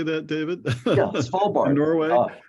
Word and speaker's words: Svalbard: Yeah, Svalbard.